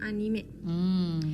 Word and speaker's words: anime: Oh, anime. Oke. Berarti bukan anim tapi anime.